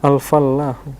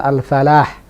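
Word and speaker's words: الفلاح: Nah, al-fallahu. al-fallahu juga begitu, ada tasdidnya. Jadi memang standar bacanya begitu. Tidak tepat kalau kita katakan al-falah. Karena al-falah dengan al-fallah punya makna yang berbeda.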